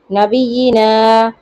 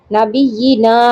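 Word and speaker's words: نَبِيِّنَا: তারপর দেখেন, নাবিয়িনা, নুনে যে টান আছে, এটা কি এখানে বোঝা সম্ভব? না।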